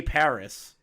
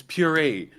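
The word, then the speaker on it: purée: it's like like Gay Paris you are legitimately a Mor I pronounced it as par no it's puree you are legitimately the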